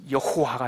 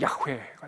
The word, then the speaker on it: 야훼: 그래서 으후, 여기다가 아도나이라고 하는 아도나이의 모음을 이를 이 흐에다가 붙이니까 여호와가 된 거예요. 이해가 되세요? 그래서 이게 오리지널 사운드는 야훼가 되는 거죠. 야훼를 우리나라 말로 알아듣기, 야훼 발음하기 어려우니까 여호와 이렇게 불렀고, 그게 바로 이 모음에다가 아도나이라고 하는 잠을 붙인 거예요.